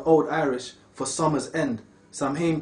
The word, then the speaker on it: Samhain: comes from the old irish for summer's end samhain pronounced sir win or soul soul soul in was the first